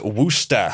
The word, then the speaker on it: Worcester: yes this is literally a massachusetts woman the pronunciation is wooster says dhaka according to who because uh when